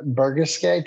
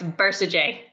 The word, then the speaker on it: Bercegeay: Today, we are sitting here with Bercegeay. Did I pronounce that right? No, it's Bercegeay. Bercegeay.